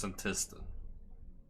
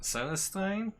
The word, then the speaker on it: Senntisten: So that's how we properly pronounce Senntisten. I was calling it Senntisten or something like that.